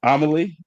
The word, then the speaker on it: Amelie: I'm your host, Desmond Black, and the person that's sipping and tripping with me today, um, she goes by the name of Amelie.